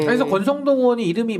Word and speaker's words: 권성동: 그래서 권성동 의원이 이름이 뭐 스펠링은 다르지만 이름이 성동이에요. 선동을 한 거죠. 권한 거죠. 성동을 권한 거죠. 선동을. 선동을 권해서 그래서 권성동이야. 이름 발음 잘못하면 그냥 권선동처럼 들려요. 권선동. 이름은 성동이지.